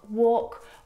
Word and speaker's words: walk: Words like salmon, not salmon, half, not half, would talk, walk. All of these words have a silent L in them, which makes them a little bit tricky to pronounce correctly.